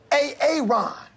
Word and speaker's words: Aaron: I'm just asking, I said it like 4 times, so why didn't you say it the first time I said A.A. Ron? Because it's pronounced Aaron.